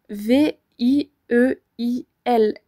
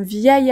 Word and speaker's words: vieil: y a deux I on pourra donc dire un vieil ami vous entendez la liaison passe toute seule un vieil ami on le dit en une seule fois par contre à l'écrit